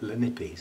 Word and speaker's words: Lanipes: Lanipes, I think it's pronounced.